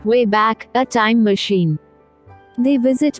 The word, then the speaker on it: WABAC: Willing throughout history using the WABAC, pronounced, way back, a time machine.